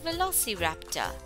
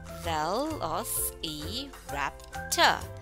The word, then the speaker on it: Velociraptor: Let's pronounce Velociraptor. Velociraptor. Let's repeat. Velociraptor.